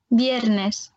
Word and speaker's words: viernes: Alors, le R, quand il est tout seul, il va se prononcer comme un R roulé dans la bouche, mais pas trop fort. On t'écoute? Viernes.